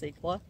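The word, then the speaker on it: Secla: portugal and then cicla s-e-c-l-a i'm going to say that is pronounced sikla and then a s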